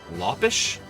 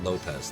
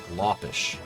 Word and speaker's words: Lopes: his name is pronounced Lish I think it's pronounced T Lish it's not actually Lopez that's a misnomer but it's yeah what